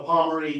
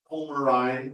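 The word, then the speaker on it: Pomarine: Okay, this pot-bellied guy is a Pomeranian Jaeger. I've been told the correct pronunciation is actually Pomerine, but nobody I know actually says that.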